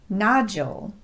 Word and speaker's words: nodule: Today, I want to address those words where the letter D is pronounced just like the letter J.